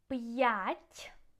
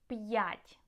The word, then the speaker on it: п'ять: П'ять means 5, yeah? П'ять.